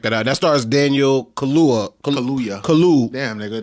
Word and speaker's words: Kaluuya: That stars Daniel Kaluuya. Damn, nigga. Kaluuya.